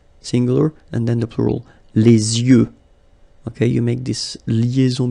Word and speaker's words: les yeux: Okay, so l'œil, singular, and then the plural, les yeux. Okay, you make this liaison between the two. Les yeux. Okay, final X not pronounced.